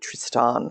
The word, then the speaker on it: Tristan: Waking Up with Sam Harris is the podcast, and the former Google ethicist was a guy called Tristan, or he pronounces it Tristan Harris.